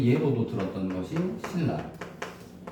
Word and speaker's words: 신라: 그래서 그 예로도 들었던 것이 신라. 비음하고 그중에 니은 리을이 맞나? 그래서 얘를 발음하고 얘를 발음해야 되는데 리을이 성격이 더 강하기 때문에 리은이 리을에 맞춰 주는 거다.